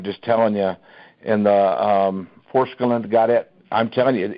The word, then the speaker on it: Forskolin: The Transfigure and the Foreskin, is that what it's called? Forskolin, yeah, Forskolin.